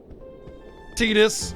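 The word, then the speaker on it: Tidus: the the big boys tetus which technically is how you would pronounce his name but honestly since it's never voice acted in the game itself his name is whatever you think it is tetus Titus totus turis whatever doesn't matter well there's definitely not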